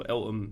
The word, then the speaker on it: Eltham: Yeah, Eltham. Feltham without the F.